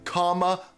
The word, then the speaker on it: Kamala: It's Kamala.